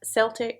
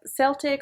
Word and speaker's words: Celtic: nearest origin in french the modern standard is a hard c sound like so i guess that means we need to be calling this the celtic tree you agree david